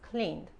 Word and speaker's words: cleaned: Si la e solo se pronuncia si la palabra termina en t o d, o la t e o la de, ¿ok? En este caso, como el verbo termina en n, no se pronuncia la e. Aquí es cleaned.